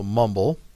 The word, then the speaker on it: mumble: There's 2 syllables. The first syllable says mum, right? And then the second syllable says bull, so b, and then le says ul, so mumble.